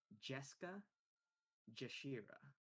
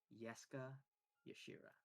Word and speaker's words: Jeska Jashira: The name you read is Jeska Jashira, but Suma, knowing that this is a drow we're talking about, you would immediately parse that as Yeska Yashira.